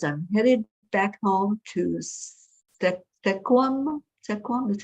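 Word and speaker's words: Sequim: Stacy says, my yay is I'm headed back home to Sequam, is how you say it, in a week.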